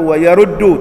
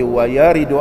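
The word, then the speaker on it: يرد: Kalau orang tak mengaji Iqna', dia baca wa yaruddu alaih, tetapi bukan wa yaruddu, tapi wa yaridu alaih. Lain tu, wa yaruddu ditolak atasnya, wa yaridu telah datang ke atasnya satu pandangan.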